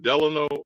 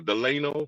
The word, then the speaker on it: Delano: fed Fel uh Franklin Delano or deleno whichever way you want to pronounce it Roosevelt confiscated the gold